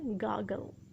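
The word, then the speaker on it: gargle: यहाँ पे आर थोड़ा सा साइलेंट है, इसको आप कहेंगे गागल।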